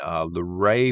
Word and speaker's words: Luray: He's got one in Luray, Virginia, I think is how it's pronounced.